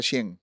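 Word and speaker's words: Shein: Shane se escribe Shane, entiendo que se pronuncia Shen.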